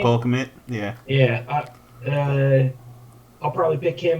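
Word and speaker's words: Cole Kmet: Cole Commit?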